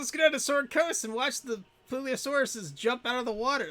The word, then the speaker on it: Plesiosaur: Plesiosaur.